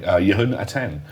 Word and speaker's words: Yehonathan: My name is James Lewis and I'm here today with the author of data-oriented programming, Yehonathan. Did I get your name right? Apologies if perfect. I the pronunciation.